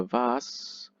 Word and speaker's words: vase: and self-contained structure of the vas or the vase you know if you're more american pronunciation the vase becomes a model for